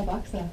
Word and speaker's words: AVAXA: Is that how you pronounce it? Am I saying it right? Yeah, AVAXA.